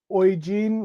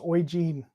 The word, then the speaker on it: Eugene: to at some point eugene pronounced oy gene like aussie oi g not j oi prince oy jean went really well thanks